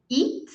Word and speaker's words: it: e t e depois é o som curto do i e e t e t então quando termina em t é T Então olha a diferença da primeira pra terceira it it da segunda pra